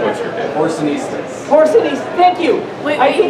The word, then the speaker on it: porcinistas: This new brigade of porcinistas, Porcinistas. How do you pronounce that?